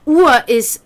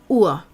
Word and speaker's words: Uhr: Everything that we put Ur, which is also funny because Ur, pronounced the same way but spelled UHR, is clock. Ur.